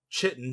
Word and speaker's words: chitin: So for anyone who thought Chitin, Chitin, was Chitin, it's actually chitin. So I'm gonna pronounce it Chitin.